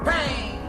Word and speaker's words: pain: Pain, pain, a little for some and a whole lot for others. The word pain is pronounced like bang, mimicking gunshots.